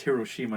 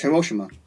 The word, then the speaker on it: Hiroshima: Before we even go further, it's Hiroshima, not It's Hiroshima. Hiroshima. You can pronounce it both ways. Really? Hiroshima is the English version. We say it's Hiroshima.